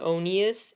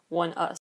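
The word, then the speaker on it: ONEUS: you pronounce it onus it looks like it's spelled onus at first glance because it's spelled like one word come on people let's think about the names of title tracks from one us to be or not to be Valkyrie to be or not to be onus or to be or not to be one us it is so it just fits so much better to have that Shakespeare era pronunciation it's to be or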